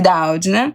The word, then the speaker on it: Doudna: Jennifer Doudna, na verdade, a pronúncia, que eu já me atentei aqui, Doudna, sobre a história da edição de genes e o futuro da espécie humana.